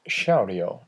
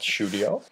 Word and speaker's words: Shoudio: is our website pronounced Shao not shudio shouting audio that's where it comes from so what is Shao